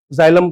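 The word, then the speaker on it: xylem: एक्स से तुम कोई वर्ड लिखोगे तो अलग चीज होएगी। है ना? जैसे ज़ाइलम जाइलम तुमने बचपन में पढ़ा होगा।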